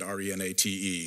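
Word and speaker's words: Renate: name of an individual you know Renata Renata it's spelled with an e at the end re na te is direct okay and then after that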